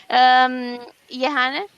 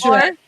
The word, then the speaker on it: Jehanne: Jehanne? It's Joanne. It's okay. Oh, Joanne. Never mind. No one knows how to pronounce it, even in French.